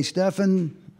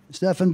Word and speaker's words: Stefan: ask me I say you pronounce it just like Steph Curry there you go um